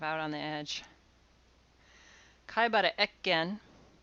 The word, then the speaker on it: Ekken: Kaibara Ekken. Sometimes his name is pronounced Ekiken. Yamaga Soko, Ito Jinsai, and Ogyu Sorai.